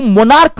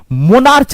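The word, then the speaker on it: monarch: क्या होता है राजा इसको मोनार्क पढ़ते हैं। मोनार्च नहीं पढ़ा जाता है।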